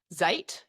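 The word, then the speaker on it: Zajt: will spell out because I believe that it is pronounced Zejt. Is that correct? Yep. Spot on, you got it. Yes, that's good, but it's not spelled like that, is it? Yeah, I've got Maltese background, so it's spelt in the Maltese way, which probably means nothing to you guys.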